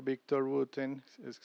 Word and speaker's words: Victor Wooten: este mismo Victor Wooten, así se pronuncia, él tiene un video donde está literal